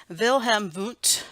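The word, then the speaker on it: Wilhelm Wundt: start well this guy vill hem boot German guys so we're going to pronounce those with V's so our the very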